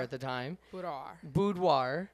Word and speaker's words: boudoir: Start like I didn't know that it was called boudoir at the time. Boudoir. Yeah. You're not even saying it right. I ain't gonna even try. Boudoir. It's fine. It's a French word.